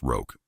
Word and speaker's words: roque: "It's pronounced roque," Daddy was saying.